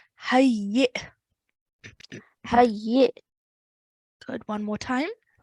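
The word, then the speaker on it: حيٍّ: hayyi. Hayyi. Good. Ha joins onto the ya mushaddad. Ya mushaddad also has a kasra, so it's hayyi, and then soft jerk sound at the end.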